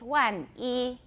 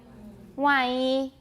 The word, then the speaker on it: 万一: If you say it carefully, it's 万一. But if you say it more casually and normally, it's 万一.